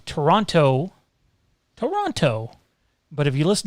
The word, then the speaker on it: Toronto: leafs doing toronto toronto toronto said the same exact thing and it's not the same thing it's not listen americans toronto canadians toronto canadians leave out the second t for whatever stupid reason